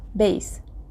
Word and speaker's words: bass: To embrace notes in the lower pitch ranges, we use bass clef, pronounced bass.